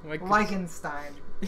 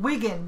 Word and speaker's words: Wittgenstein: it's like Wittgenstein. Wittgenstein. It's not Wigan because they never pronounce their E's with an E. It's always like a vowel E, or yes. and it's always an E sound.